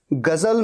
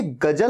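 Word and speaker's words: ग़ज़ल: कभी भी देखिएगा, गजल में ज के नीचे बिंदु होता है। ऐसा नहीं होगा कि बिंदु नहीं होगा। ये गजल नहीं है, गजल, गजल नहीं, गजल, गजल, गजल। और इसीलिए स्पेलिंग में Z होता है।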